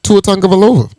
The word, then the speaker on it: Tua Tagovailoa: Tua Tagovailoa. But Tua Tagovailoa. hey, you Tua the first Tagovailoa. nigga I've ever heard pronounce his name.